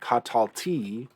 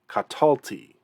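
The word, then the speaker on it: קָטַלְתִּי: full vowels and so we don't want to say catalti we want to say katalti and that just makes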